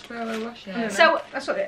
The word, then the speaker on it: Ferrero Rocher: Ferrero Rocher. Everyone says it's Ferrero Rocher. Wow. It's not, is it? No, it's Ferrero Rocher.